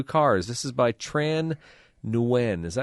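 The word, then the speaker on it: Nguyen: Uh, it's win. W. I say Nwin. Yeah, it's Yeah, I was told years ago it was win.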